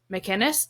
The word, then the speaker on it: McInnes: my guest is McKinnis did I say that right yes you actually did that was really surprising